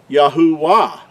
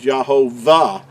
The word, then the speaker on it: Yahuah: Creator's name is pronounced Yahuah, and it's not. That third letter, we've already talked about this, makes an oo sound, not a W sound or a V sound.